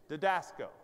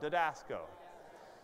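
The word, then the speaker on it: διδάσκω: Just pronounce it right, all right? Didasco. Say it out loud. Didasco.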